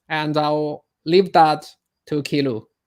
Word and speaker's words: Ky Luu: My name is Key Lu. Key pronounced Key.